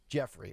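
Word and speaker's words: Giuffre: accuser Virginia Roberts um I don't know how you say her last name jrey Jeffrey okay spelled gii u ffr e why she couldn't spell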